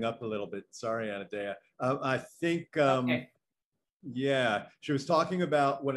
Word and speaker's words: Anodea: Is that correct, Anadea?